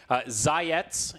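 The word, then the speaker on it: Zayac: Zayetz is how you pronounce that name.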